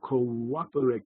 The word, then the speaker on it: cooperate: the two O's and in careful pronunciation of English the word should be pronounced correctly near the difference between cooperate and cooperate the difference is that with the glottal stop between the two O's there's a moment of silence